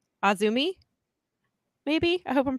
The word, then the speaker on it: AZM: AZM was initials, and I did not realize it was pronounced Azumi.